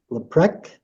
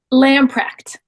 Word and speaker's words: Lamprecht: Leprecht, is that how you say it? Lamprecht. Lamprecht. Yeah.